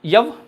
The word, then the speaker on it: यव: बाड़ले जानते हैं आप लोग यव है ना जिसको ज बोला जाता है आजकल ऐसे यव उसका सही उच्चारण है ना मैंने कई बार बताया आपको हिस्ट्री में।